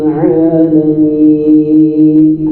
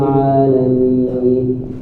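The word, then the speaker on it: العالمين: A ainnya harus nampak ainnya tipis dan keluar dari makhrajnya yaitu di wasatul halq. yaitu pertengahan kada terlalu a kada mengikir a rabbil alamin rabbil alamin itu al kemudian lanya hati-hati jangan sampai terbaca alami l la lain buji-bujir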